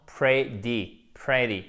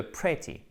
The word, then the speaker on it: pretty: Le T est prononcé presque comme un de, ce qui donnera cette impression d'entendre pretty, au lieu de pretty. Donc, typiquement, en British English, on va bien faire le te, pretty, ok?